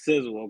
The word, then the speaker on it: Sizzle: The way you pronounce my name is Sizzle.